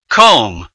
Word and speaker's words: comb: silent letter is d comb the silent letter is B subtle the silent letter